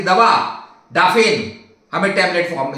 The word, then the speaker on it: Daphne: तो इसका नाम है इस्प्रज लॉरेल डेफेन इंडिका या डाफने इंडिका, कई लोग डेफेन बोलते हैं, जो स्पेलिंग है डाफने इंडिका।